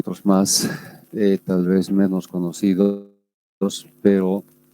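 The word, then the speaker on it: Mach: natural otros el número de mayo que se pronuncia más y se escribe de esta forma el símbolo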